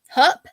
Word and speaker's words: Hupp: So we are talking about Pam Hupp. Am I saying it right? Yep. Hupp. Yep.